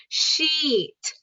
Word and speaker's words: sheet: So that's the long E, sheet.